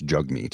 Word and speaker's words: Jagmeet: I know it's Jagmeet is how it's pronounced, but zigzag jag because of the way it's written.